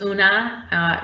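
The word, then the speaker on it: Oonagh: well so i said my name was una rhymes with tuna but it's not spelled that way it's o n a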